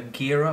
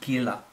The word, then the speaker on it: Gila: If you watched my last review video, you would notice that I called her Gira or Jira in that video. But I found out her name is actually pronounced Gila.